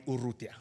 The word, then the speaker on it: Urrutia: It's actually pronounced Urrutia, okay?